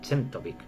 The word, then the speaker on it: Czentovic: Yo he dicho, entiendo que se pronuncia Chentovic.